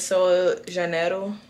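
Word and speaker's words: Sol de Janeiro: I really like this Sol Janeiro. That's how you say it in Portuguese.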